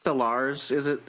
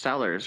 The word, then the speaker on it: Sellers: fucking word wrong, who says like Solars, like Peter Solars the other night on stream for like 3 hours. Yeah, he says Solars. It's just sellers, right?